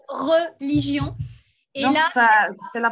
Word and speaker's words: religion: Mais Le problème, c'est que ça se prononce religion.